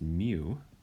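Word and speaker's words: μ: mean we use the symbol um this is pronounced mu and it's a it looks like a curse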